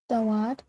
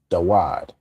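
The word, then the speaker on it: דּוֹד: I believe the way you pronounce the word specific for uncle would be Dawad, because on the feminine side, on the way to say aunt, how would we say that?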